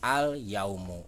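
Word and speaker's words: اليوم: jelas jadi alhamdulillah terus disini juga ada kata al yaumu alif dan lam nya dibaca dengan jelas alyawm uh seperti itu nah jadi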